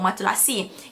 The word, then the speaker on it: matelassé: Matulasi tu, kenapa apa matulasi? Kalau korang tengok perkataan, ejaan dia macam matulasi. Tapi it's matulasi. Matulasi tu maksudnya textured. Dia jenis jahitan textured yang kilted, tu maksud dia in French lah.